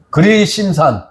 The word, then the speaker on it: 그리심산: 에발산하고 또 그리 그림신 그리심산 발음되잖아요.